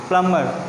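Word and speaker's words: plumber: Okay, जो हम प्लम्बर कहते हैं वो असल में प्लम्बर नहीं होता लेकिन क्या होता है, प्लम्बर। यहाँ पे जो बी है उसका साउंड क्या होगा, साइलेंट होगा।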